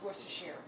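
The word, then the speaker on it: Worcestershire: a little while uh I might add some werer and yes it is pronounced werer um Worster Shear Worster Shear Worster Shear let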